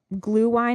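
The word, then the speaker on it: Glühwein: and you can get some of that glue wine is how you say it's mulled wine bottle it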